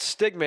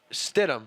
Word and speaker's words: Stidham: Holtz shoutout to our friend Ron Dugan watching from home and he let me know it's not stigma it's Stidham Riley Stidham so say